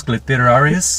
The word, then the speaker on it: clitoris: Is that a woman's clitoris? Clitoris? No. Clitoris. 3 syllables. It's 3 syllables.